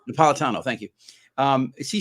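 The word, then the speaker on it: Napolitano: judge Nia how do you say his name napalitano napalitano thank you um is he still on that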